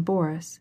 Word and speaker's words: Boris: as she followed him she pronounced the name boris with the accent on the first syllable i cannot stay any